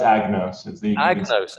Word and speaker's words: Agnos: Is it a kind of silent G there? No, it's Agnos.